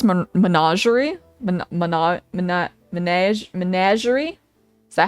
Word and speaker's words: Menagerie: Menagerie is how I pronounce it.